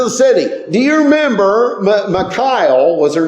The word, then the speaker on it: Michal: But Michal is basically a more appropriate name to say her. But she liked David. But do you know that Michelle, which I'm going to say it that way, it's not how you say it, but I say Michelle.